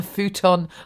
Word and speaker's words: futon: I sleep on a futon on the floor. That's why the cockroach scared me. That refers to an earlier bit of writing. Futon rhymes with Zuton.